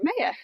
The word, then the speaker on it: Maya: And we went to Riviera Maya. Oh, okay. Or Maya, some people pronounce it, which is where our daughter's name comes from.